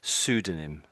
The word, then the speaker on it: pseudonym: So, the P is silent. So, it's basically you could say pseudonym.